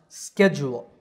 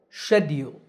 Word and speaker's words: schedule: the british pronunciation is schedule that first snake-like character is the sh sound all right so american